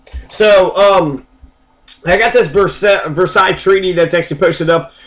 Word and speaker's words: Versailles: right began and um Versa treaty that's how you say it it was named after a city in France called Versa and there's several actually